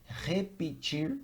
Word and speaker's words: repetir: In English, when I have the letter R, the pronunciation is repeat, ruler, road, okay? In Portuguese, it's more like the sound of the letter H in the word hot.